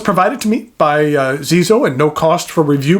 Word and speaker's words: Xezo: by the name of Zeo that's spelled X Zoo uh I reviewed another one of their pens a while back called the Incognito but I have a different model for you today the Zeo Maestro lron uh what